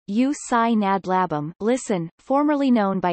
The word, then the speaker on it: Ústí nad Labem: Giusti nad labem check pronunciation you sign a blab um listen formerly known by its German name Asik